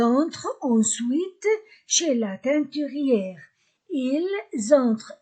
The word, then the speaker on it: ils entrent: Ils entrent, S entre deux voyelles, Z, ils entrent, E-N-1. La terminaison E-N-T du verbe ne se prononce pas.